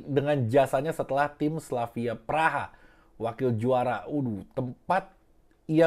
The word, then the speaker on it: Praha: raksasa Liga Ceko Slavia Praha Prague tulisannya dibacanya Praha atau rekan dari pemain Anyar